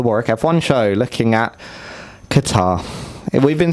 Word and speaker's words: Qatar: It's the Qatar Grand Prix.